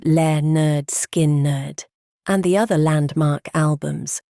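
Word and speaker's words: Lynyrd Skynyrd: services at Filillmore East and pronounced le nerd skin nerd and the other landmark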